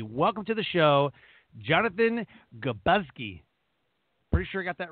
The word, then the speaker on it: Grzybowski: Just think of it as three syllables and sneeze beforehand, and you would have nailed it. But the Grzybowski, but good enough for me.